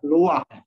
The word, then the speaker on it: Louis: Kalau Paris orang Prancis itu Louis bacanya Loire.